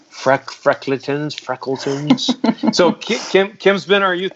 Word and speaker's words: Freckletons: Oh, I said your name wrong. It's Freckletons. Freckletons.